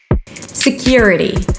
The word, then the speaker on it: security: Security primary stress is on the second syllable: s'k-YU-r'-dee. Now, you actually have two ways to say this word I'm gonna teach you the easier way. And here you want to combine the Y and the R - Y'R - to connect them.